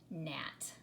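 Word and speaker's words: gnat: it is the G we do not hear that G at all we simply pronounce it NAT okay the second one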